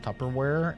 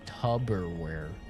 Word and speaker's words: Tupperware: I met a guy that worked in my local grocery store, pronounced Tupperware, and he called it Tubberware.